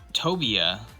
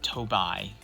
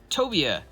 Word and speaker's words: Tobia: So here we have Tobia. I'm hoping I pronounced that right this time. I don't know why I pronounced it Tobai. Not sure why. But anyway, Tobia.